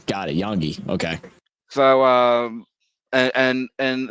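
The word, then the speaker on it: Iongi: Is it I Yongi is pronounced like a Y. Got it. Yongi.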